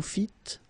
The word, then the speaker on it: fîtes: Vous fîtes, don't pronounce S.